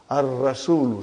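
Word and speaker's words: الرسول: Ar-rasulu. See? Sun letter.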